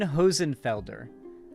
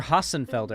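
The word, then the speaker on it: Hossenfelder: my favorite science channels Sabine hosenfelder um released or hasenfelder I think is how it's pronounced sorry released a video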